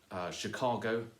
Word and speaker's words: Chicago: last stress is um the word Chicago does not run with below but Chicago does rhyme with embargo and cargo because the stress in Chicago is on the middle syllable that means that if